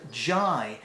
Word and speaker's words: J: sense at all but they they've turned the j or the ju into jai and i can't think